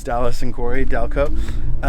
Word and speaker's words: DALiCO: DALiCO. It's DALiCO. The I is silent.